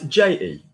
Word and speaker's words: je: How would I pronounce J-E? Je.